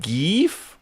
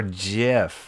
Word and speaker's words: GIF: Is it pronounced geef or jif? Oh, okay. Granted, I have no opinion about how it's supposed to be pronounced, but the hard G is technically correct.